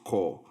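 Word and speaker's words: coup: You more than anybody in this film should have known that cop is a French word and is therefore pronounced core.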